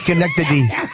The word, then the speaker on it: Schenectady: right say it right you had it right Schenectady you are as you're frighteningly stupid frightening and stupid try to say it it was a Schenectady you try to say it Schenectady how far you say I wouldn't anyhow